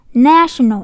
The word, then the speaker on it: national: Cái âm e bằng mô này các em đọc mở miệng hết cỡ cho cô nhé. National, national đó, national đó, mở miệng hết cỡ national đó. Càng mở miệng càng to càng đọc hay national. National chỉ xin em national nha. Nhấn âm một đúng không, nhưng mà cũng là dấu sắc nè.